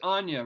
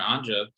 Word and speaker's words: Anya: I have been calling her Anja because I'm used to seeing the Ukrainian wording. My Ukrainian aunt is Anya, so now I know her true pronunciation.